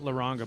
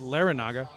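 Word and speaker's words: Larrañaga: And I've been saying his name wrong, but number 33 playing first base is Simon Laranaga. Not Laranga, but Laranaga.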